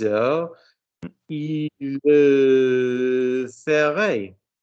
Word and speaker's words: ferait: 6 heures, il le ferait. Pronunciation. Il le ferait. Il le ferait. Il le ferait. Not fair. Learn to listen to vowels.